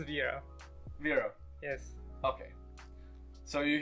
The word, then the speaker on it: Vrow: You pronounce the V first and then Row. Yes. Vrow. That is how it's meant to be. Not Row. not Row or Crow or anything.